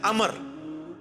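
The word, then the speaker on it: عمرو: उम्र तो कोई लफ्ज़ नहीं है लब्ज है अमर लिखा होता है उम्र लेकिन उसका मतलब वह जो है वो साइलेंट होता है और वो का मतलब यह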